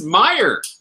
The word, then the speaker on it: Mire: like, oh my God, it's not Maya, it's Meyer. Holy shit. You know, I figured you're calling him the Maya. Why don't you relate him to the Maya that were actually on the planet? It's because it's the Meyer. Like mired in mud.